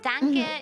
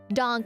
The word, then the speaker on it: Danke: still it's not okay oh it's not dank it's more like that okay donk okay donkey donk dunk